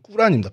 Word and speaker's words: 꾸란: 어 이유가 이유가 뭐냐면 교회도 있고 모습 있는게 뭐냐면 엘리야는 어 코란이라고 우리 요즘 우리는 어렸을 때 그렇게 배웠는데 코란이라고 그러는 이제 이슬람 사람들이 싫어합니다. 제 정확한 발음이 꾸란입니다. 꾸란.이 이 꾸란 37장 123절에서 132절에 어 내용이 이런 얘기가 있어요.